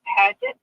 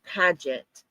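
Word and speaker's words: Padget: Uh Padet, I think that's how it's pronounced. P A D G E T. Yes. Last night in chat, we asked everybody if you knew a Kathy Padet.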